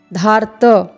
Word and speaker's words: धार्त: धार्त, र का जो उच्चारण है धा के बाद होगा, धार, फिर पूर्ण वर्ण त, धार्त।